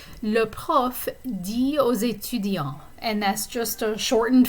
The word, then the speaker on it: aux étudiants: So, aux étudiants. And the X is pronounced in this case because étudiant begins with a vowel sound.